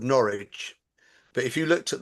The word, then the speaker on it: Norwich: So, I live in a place called Norwich. But if you looked at the word Norwich, n o r w i c h, it was originally pronounced Norwitch.